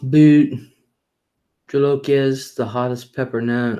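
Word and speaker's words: bhut jolokia: no fish yuck it depends on the fish pronounced boot Jolokia is the hottest pepper known Oh my mom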